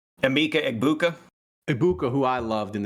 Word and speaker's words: Emeka Egbuka: Emeka Egbuka.